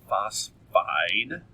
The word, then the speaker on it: phosphide: oxide Florine fluoride phosphorus a lot of people add an extra syllable there but it's not it's just phosphide so just be careful